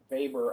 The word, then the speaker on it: Weber: the ideas of of weber a little bit later um i know it's spelled with the w but it's german so it's pronounced b sound uh so max weber's